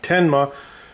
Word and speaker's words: Tenma: I've been saying it wrong all along because there's no I. Tenma 727745 true RMS.